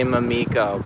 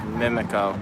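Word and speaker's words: Mimico: keep on having the urge to say mamiko but it's actually pronounced mimiko for anyone who's curious about gas prices it's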